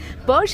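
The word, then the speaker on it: Pox: Posh is spelled P-O-X, but it's Mayan.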